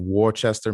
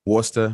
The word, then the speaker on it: Worcester: in the raven and worchester mass i think i said it wrong worcester mass and um you can